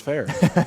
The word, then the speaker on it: Furr: he even says in the message, pronounced fair here.